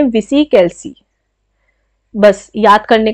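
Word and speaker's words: VisiCalc: इसको अब प्रोनाउंसिएशन में कुछ उल्टा सीधा हो सकता है। आप देख लेना। इसे बोलते हैं विसी कैलसी।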